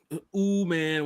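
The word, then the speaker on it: Umanmielen: Ooh man, we can say ooh man from I think he's one of Ole Miss.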